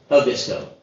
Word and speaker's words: Abisko: I thought it was Karuna, and I thought it was Abisko, but they seem to always put the accent on their first syllable, so it's Kiruna, and it's Abisko. We landed at Kiruna as